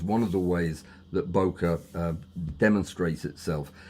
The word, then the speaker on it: bokeh: correct pronunciation was because I hear everything from bouquet to bokeh to uh to well just about everything. It's bow and then k is like kettle without the tul at the end.